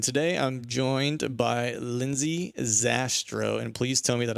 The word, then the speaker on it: Zastrow: hunting podcast and today I'm joined by Lindsay sastra and please tell me that I got your